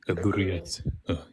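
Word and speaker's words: Adh-Dhariyat: It's gonna be Ad Dariyat. Did I say that right? Ad-Durriyat. I have a little bit of trouble pronouncing the names of the chapters because I don't speak Arabic.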